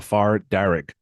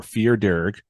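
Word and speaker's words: fear dearg: A far darrig, or fear darrig, is a fairy of Irish mythology. The name fair darrig is an Anglophone pronunciation of the Irish words meaning fear darrig, meaning red man, as the far darrig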